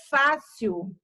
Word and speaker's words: fácil: A palavra fácil. Fácil. Ela também tem duas sílabas. Elas são com duas sílabas, termina em L e ela é acentuada. Ela é uma palavra que é paroxítona.